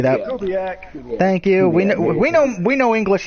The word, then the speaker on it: Kubiak: Gary Kubich, if I'm pronouncing his last name correctly, I know Captain Ron would say that. Kubiak.